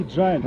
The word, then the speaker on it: Giant: Ну, как он? читается по-английски Giant. Ну да, вот да.